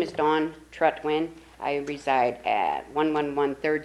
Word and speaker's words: Trutwin: It's Trutwin. Trutwin. Say it just like it's spelled.